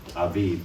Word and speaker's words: Aviv: So notice that the Vav and the father, Aviv, is pronounced like a V and not like a Vo.